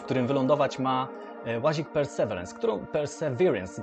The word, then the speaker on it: Perseverance: Perseverance, dokładnie tak się powinno to wymawiać.